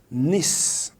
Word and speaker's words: Nice: 16 december 1965 at niss the city of france the city of france here the name of the city is nis it is spelled like nice spelling the nice enough